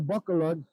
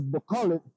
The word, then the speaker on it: Bacolod: I actually left Cebu and made my way to Bacolod. I know I butchered that too, it's Bacolod, you know, and then went from Bacolod on out here to La Castellana, you know, and I love it.